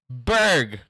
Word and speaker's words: Burgh: It's pronounced Berg.